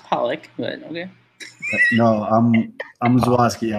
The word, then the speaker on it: Pollock: Well, I mean, it's pronounced Pollock, but okay.